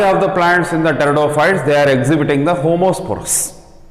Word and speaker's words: Pteridophytes: Pteridophyte ಅನ್ನಬಾರದು, P is silent here.